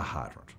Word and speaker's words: hydrant: to learn is fire hydrant. I took the dog for a walk and I tired it to a fire hydrant. Far with a big arching I sound and hydrant with two distinct syllables.